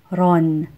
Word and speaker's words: roon: is ran ran doon is Don Don and roon is Ron Ron Filipinos instinctively know When to use one